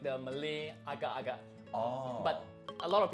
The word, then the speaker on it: agak-agak: It's actually like the Malay agak-agak. Oh. But a lot of people get it wrong. They say agar-agar.